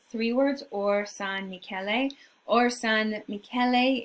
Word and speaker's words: Orsanmichele: Or San Michele, you might see it spelled all one word. You might see it spelled three words, Or San Michele. Or San Michele is the Italian pronunciation.